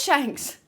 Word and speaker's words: Shanks: But I do understand like information like the Cross Guild or Shanks showing up. It is Shanks. I was thinking Shank.